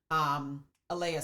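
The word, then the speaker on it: Alaea: This is your hickory, and this is your red Alea salt, or Alai salt. Actually, it's how it's pronounced.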